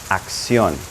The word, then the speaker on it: acción: Action becomes acción. Those two C's have a different sound, right? Acción.